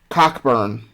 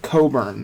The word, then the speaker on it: Cockburn: names Cody are Kofi his last name is phonetically pronounced Cockburn but they pronounce it Coburn now I understand why